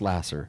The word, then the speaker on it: Laser: more time charity charity Lasser so that's charity spelled like uh the pure love of Jesus pure love Jesus Lasser l a s e r okay spelled like laser pronounced Lasser okay um look truly